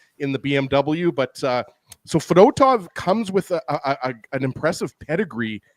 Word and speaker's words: Fedotov: I think the reason why I'm saying that is because I keep thinking of Ruslan Fedotenko. I don't know about you guys, but that's what I keep thinking of. Former Pittsburgh Penguin, and I think he also played for the Flyers, actually. But Fedotov, there I said it right, was excellent tonight, guys.